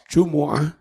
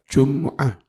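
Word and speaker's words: جمعة: Jum'ah itu boleh dibaca Jumu'ah, boleh dibaca Jum'ah.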